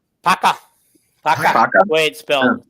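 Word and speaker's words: Puka: He might It's Paco. Yeah. Paco. Paka.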